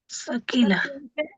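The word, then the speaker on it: ثقيلة: লামে তাকি নুনে তাকিদ সাকিলা সাকিলা সকিলা উচ্চারণটা সকিলা এই যে লিখে দিলাম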